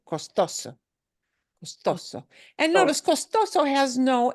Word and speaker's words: costoso: it doesn't need it the way we pronounce this word follows the rule of stress which is last letter of the word is an O and we punch the second to last suable a little harder H so let me run